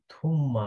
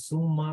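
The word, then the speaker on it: ثُمَّ: যেমন এখানে হচ্ছে থুম্মা, এটা যদি কেউ বলে সুম্মা তাহলে ভুল হবে।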